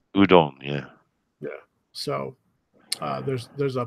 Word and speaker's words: Udon: That's pronounced Udon.